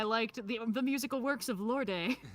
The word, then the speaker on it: Lorde: how it's pronounced uh so musical artist lord with an e unsurprisingly i assumed that the eu was not silent because if it were silent why not just spell